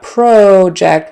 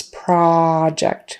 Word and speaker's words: project: out versus project and notice that in the noun project it's not project with a long o it's project have you completed your project noun project verb default